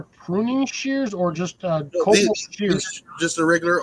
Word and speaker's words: Kobalt: Actually, it's KOBALT, Cobalt. It's a weird pronunciation. Here. It's Cobalt.